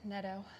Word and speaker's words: Netto: Neto. I've heard a lot of us pronouncing that.